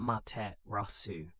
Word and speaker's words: Amaterasu: The Yamato claimed descent from the sun goddess Amaterasu, pronounced Mate Rasu.